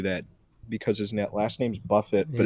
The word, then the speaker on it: Buffett: what's fucking crazy is that I bet they're going to merge like Joe Crab Shack and all the Jimmy Buffett places together and You think create so?